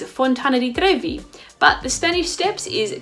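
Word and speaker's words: Fontana di Trevi: ill collar sale and the trevi fountain is Fontana T groovy but the Spanish Steps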